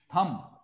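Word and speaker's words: thumb: उंगलियां और थंब कहते हैं अंगूठा, जो हाथ में अंगूठा है ऐसे थंब कहते हैं, बी इसमें साइलेंट है, थंब जो है हाथ का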